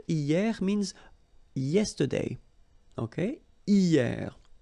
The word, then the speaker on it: hier: And then the first one is hier. Hier means yesterday, okay? Hier. So remember, this H here is not pronounced, okay? So hier.